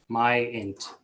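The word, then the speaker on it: Myint: Could you spell that for the court reporter? It's M-Y-I-N-T, Myant.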